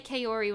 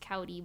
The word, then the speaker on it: Kaori: I used to say Kaori when I was a kid. Now I know it's pronounced Kaori, but...